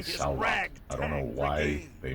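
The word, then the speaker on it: Saulot: I don't know why they spell it and pronounce it salute. It's S-A-U-L-O-T, salute.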